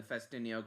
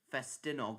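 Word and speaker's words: Ffestiniog: Oh yeah, and the Festiniog Railway completed a brand new double fairly in 2023.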